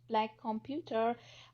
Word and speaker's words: Black Compute Here: The inaugural BWIC conference, Black Compute Here, pronounced Black Computer, was held at Howard University for students, faculty, and professionals in 2017.